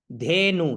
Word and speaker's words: धेनु: प्रति, धेनु, धे और नु, तो क्या हुआ? धेनु, धे नु, नु छोटा है तो नु छोटा उच्चारण, धेनु।